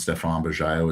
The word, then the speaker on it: Stephan Bajaio: So I know y'all won't pronounce Stephan Bajaio as cleanly as Neil did, but I'm sure he'll put a link to my LinkedIn.